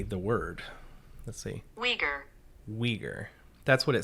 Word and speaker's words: Uyghur: know how to say the word let's see wieger that's what it says it is the u-i-g-h-u-r is pronounced uyghur the uyghur people that's and that's the people